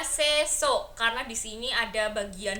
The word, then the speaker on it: Sesuk: Aku pikir ini mungkin bacanya sesuk atau bagaimana. Ternyata harusnya aku membacanya sesuk karena di sini ada